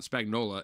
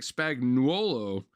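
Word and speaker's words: Spagnuolo: It's not spagnola. It's They say it like that though. It looks like spagnolo.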